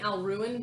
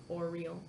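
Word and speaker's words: Auril: I kept saying Al-Ruin, but I was wrong. It's A-U-R-I-L. A-U-R-I. Oriole? A-U-R-I-A-L? Nope, A-U-R-I-L. Oriel. Oriel.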